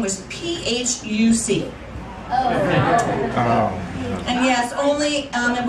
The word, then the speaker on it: Phuc: and her name was p-h-u-c and yes only um in baltimore could you have a name phuc that was not pronounced fuch and um so i